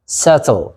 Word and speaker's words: subtle: subtle what is subtle መጀመሪያ pronunciation አስተካክለው subtle be silent okay be silent subtle what is subtle